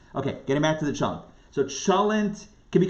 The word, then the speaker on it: cholent: But you would say cholent because it comes from the Yiddish.